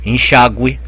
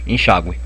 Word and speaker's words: enxágue: verdade gui que que quando o é pronunciado só isso então uma palavra como e charmoso e enxágue você pronuncia o enxágue então aqui você tem que pôr trema enxágue mas já o verbo